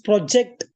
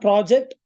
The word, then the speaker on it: project: Or as project, not project, project.